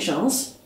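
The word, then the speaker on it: Gens: One is Véronique Jeans, or Jean, depending whether you want to pronounce the S on her surname or not.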